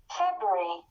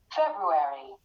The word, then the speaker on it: February: way okay yeah so here you have two ways of pronunciation the first one for the british accent and the second one for the brit before the american accent so listen february february did you hear the